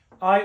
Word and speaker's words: hay: Hay humo and hay niebla. Remember, H is silent.